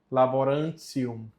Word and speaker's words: laborantium: Laborantium. Mesma coisa aqui que aconteceu em cima. O T com o I mais a vogal U fica tissi e com o final 1 fica tissium. Então, laborantium. Salva-nos.